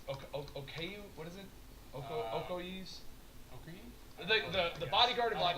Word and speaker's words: Okoye: I can never say her name properly, but number 33 is Okayu's Okayu. What is it? Okoye's.